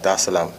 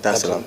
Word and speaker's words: Dar es Salaam: come straight to Tanzania, Dar es Salaam. Did I pronounce that right? Yeah. Dar es Salaam.